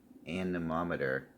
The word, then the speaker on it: anemometer: now this I do have a a wind anemometer I actually said it right this time so